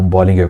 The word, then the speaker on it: Bollinger: E o nome certo é esse mesmo, Bollinger, e não Bollinger, como se falar aqui,